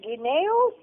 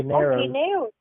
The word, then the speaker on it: guineos: Ganeros. Oh, guineos.